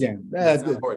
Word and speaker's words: Segan: Oh, can I say it? Segan. Accent on the first.